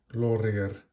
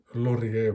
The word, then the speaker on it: Lorier: There's the logo at 12 underneath, Lorier and automatic. Sorry, I should be pronouncing it Lorier, but I can't help myself.